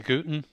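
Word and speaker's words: van der Gugten: That's all right, you've gone for the Australian pronunciation. Is that right? Australians say Gooten. Dutch is Huchten.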